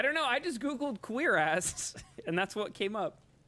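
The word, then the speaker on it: cuirass: Oh, queer ass. Yeah. Is that not how you say it? Pretty sure it's queer ass. Wait, you're hating on queer ass?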